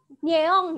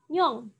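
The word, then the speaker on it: 녕: Nah sudah jadi ya Ini dibaca Nyong Bacanya adalah Nyong Oke bacanya bukan nyeong ya tetapi Nyong oke nah kita coba pisahkan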